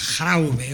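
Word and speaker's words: De Grauwe: Me parece que como es flamenco se pronuncia Graube o algo así.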